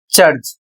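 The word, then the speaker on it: church: अगला नियम है जब सी के साथ एच जुड़ जाए जैसे यहां पर मैंने लिखा है सी एच, तो आवाज च होती है। अर्थात आपको सी एच को च का उच्चारण करना है।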